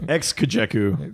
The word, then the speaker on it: XKJEKU: There's a pronunciation, I'm pretty sure. Ex-Kajeku.